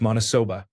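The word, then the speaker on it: maniçoba: There is a common dish in northern Brazil called manacoba, pronounced monosoba.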